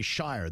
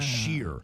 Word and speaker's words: shire: a lot of people say shire. That's what part is wrong. It's supposed to be sheer. Ah. Sheer. That's how you do it.